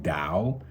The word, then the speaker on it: Tao: second one is the dao it's spelled t-a-o but it's it's pronounced dao and really it's more